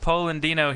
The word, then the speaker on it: Polandino: Polandino here again.